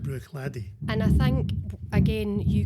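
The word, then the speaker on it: Bruichladdich: and think is called Bru Ladi. Yeah. Ladi. Bruy. That's the correct pronunciation. Bruy because people say Glenfid, don't they? Yeah. But Bruy. So the ch at the end of that silent brladi and I think again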